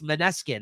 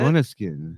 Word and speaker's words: Måneskin: No, it's Måneskin, isn't it? Måneskin. Yeah. Måneskin. That's how they said it when they sent it to me.